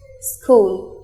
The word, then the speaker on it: school: use of silent letters school here H is silent doubt here B is